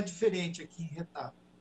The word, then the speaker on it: Getafe: Então, não é diferente aqui em Retafe. A pronúncia é Retafe. Retafe. Tá? Isso. Então, nós que brasileiros, que abrasileiramos, chamamos de Getafe quando conversamos uns com os outros.